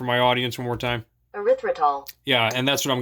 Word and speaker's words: erythritol: How do you pronounce it? Just for my audience one more time. Erythritol.